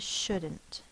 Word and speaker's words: shouldn't: d it's the DU but we have that silent L again should n apostrophe T should not is shouldn't the next word is